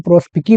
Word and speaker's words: Prospice: बहुत ही famous point प्रोस्पिस। चलिए Italian शब्द है अपने आप में और अगर इटालियन के हिसाब से इसका अगर प्रोनाउंसिएशन किया जाए तो इसको प्रोस्पिकी भी पढ़ा जाता है।